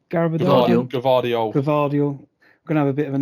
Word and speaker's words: Gvardiol: So when they swapped, is it Garaved? I can't say his name. Gvardiol.